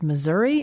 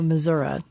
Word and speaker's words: Missouri: and Amy I know people probably say Missour it's Missouri or Missoura how do you say it I say Missouri okay it's the show